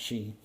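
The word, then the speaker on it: sidhe: looks like it's shy or shade but it's pronounced shei um which are the uh the I guess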